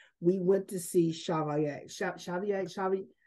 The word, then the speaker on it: Chevalier: Chevalier. How is that Yes.